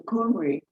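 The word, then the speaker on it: Cymry: boiling pot or cauldron or maybe because the coomery which is how you pronounce the people of wales cornwall and brittany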